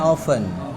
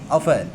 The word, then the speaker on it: often: itu bahasa Inggrisnya apa not often bacanya often enggak pakai t you can check it in your Google Translate right ofen takutnya ketukar sama yang